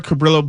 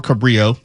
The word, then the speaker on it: Cabrillo: When I was growing up, it was pronounced both Cabrillo and Cabrillo. Yes, I know the Spanish pronunciation of Cabrillo, okay?